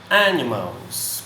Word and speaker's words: animals: Animals não professor é Animals pronúncia a tonicidade vem para primeira das sílabas né o inglês tem